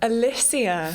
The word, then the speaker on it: Alysia: Alysia.